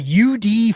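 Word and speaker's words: YoUDee: Uh but uh the Delaware the UD fighting blue hen is his name is UD. UD. And it's it's spelled capital Y lowercase O capital U capital D lowerase E lowercase E.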